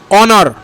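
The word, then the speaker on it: honour: হয় অনেস্টের মতোই, ঠিক আছে, এইচ থাকলেও অ উচ্চারণ হচ্ছে অনেস্ট। তো অনেস্ট, আওয়ার, অনার, এই তিনটে শব্দের আগে কিন্তু সবসময় অ্যান হয়,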